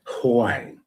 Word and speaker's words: Huang: Margaret Huang. You got to say it like this. Huang.